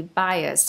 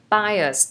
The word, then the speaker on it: bias: So they don't have any bias from the first language. Bias, từ này đọc là bias nhá, không phải là bia nhá.